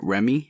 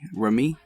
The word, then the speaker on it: Remi: I can produced by Salaam Remi Rumi Charlie said it wrong via this 2003 again